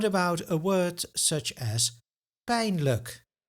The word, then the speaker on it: pijnlijk: And what about a word such as pain? Look. Why are the first and second syllable pronounced so differently?